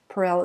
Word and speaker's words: Perel: It's spelled like Esther, but pronounced Esther. Perel is Perel, and she does an excellent podcast